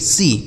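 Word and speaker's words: sea: S double E सी और एस ई ए सी इसको भी सी पढ़ेंगे पहले वाले सी का मीनिंग हो गया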